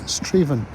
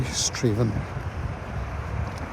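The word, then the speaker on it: Strathaven: Yeah, I think this is all the River Avon, which gives its name to the town, which is Straven. It looks like Strath Avon, but pronounced locally Straven.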